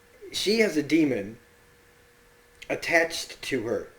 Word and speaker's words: daemon: I keep saying it because it's written Daemon, and it makes me mad because I every time I see the words, I try to sound it out the way it's spelled.